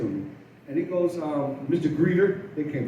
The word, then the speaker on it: Geeter: Geeter, they can't pronounce my name. It's Geeter, Geeter, not Greeter, not Geeter, not Greeter, not Kaiser, it's Geeter.